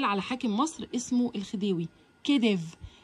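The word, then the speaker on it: khedive: كديف الكي اتش بتتنطق كأنها كي بس بيبقى مقصود بيها حرف الخاء علشان مش موجود في العرب في الإنجليزي.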